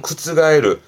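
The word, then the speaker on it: 覆る: 그리고 뒤에 루가 붙이면 발음은 구츠가에르. 요건 앞에 가가 붙는 자동사인데요.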